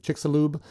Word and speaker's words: Chicxulub: And it's now known as there's different pronunciations out there, but I believe Chicxulub crater.